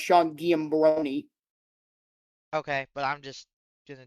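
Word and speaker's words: Giambrone: Actually, his name is pronounced Sean Giambroni.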